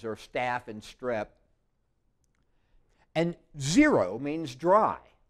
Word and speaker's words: xero: staph and strep and zero means dry it's pronounced like it's a Z a Xerox machine it